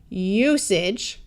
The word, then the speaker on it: usage: At the end of a word that's two syllables or longer, AGE usually schwas. Rather than sounding like age with a clear long A sound, it will tend to sound more like idge, like it has a short I.